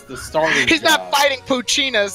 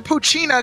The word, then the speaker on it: Poochyena: blasting the merengue music some people pronounce the Poochyena cuz it's like hyena like that's why you call Poochyena yeah because the e silent buddy but [ __